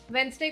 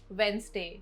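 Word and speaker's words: Wednesday: वेडनेसडे को अक्सर वेडनेसडे बोला जाता है, बट the correct way टू से इज वेडनेसडे।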